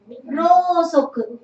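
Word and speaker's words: 蝋燭: I say rosoku. I say soji. Even though I write it like this, you read it as o sound only.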